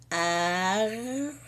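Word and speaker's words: ערבי: Mas no hebraico você fala arvi. Então não coloco o A aqui, só aqui. Só na primeira. Arvi. Na primeira consoante.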